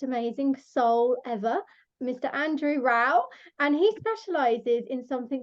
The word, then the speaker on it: Rowe: Just a little side note, it's Rowe and not Row.